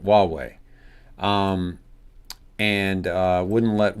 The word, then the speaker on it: Huawei: pronounced like a W. That's right. Huawei.